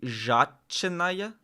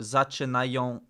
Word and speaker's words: zaczynają: So should it be zaczynaya, or is it okay, no, zaczynają się żarty językowe. Yeah. So word final L, you don't pronounce as L, it's just A. Unless you're like an actor on stage. Językowe.